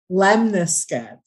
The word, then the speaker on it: lemniscate: His infinity, some of the lemniscate. Yeah, how'd you say that again? Lemniscate.